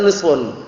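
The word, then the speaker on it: نصف: Kalau misalkan mereka mengatakan naam setengah daripada keimanan itu berarti bacanya kan nisfun. Tapi kalau nasfun mungkin artinya juzun.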